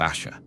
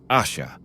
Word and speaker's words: Ash: of the kin of Asher we return to the hill Ash not Asha but Ash Ross though sure of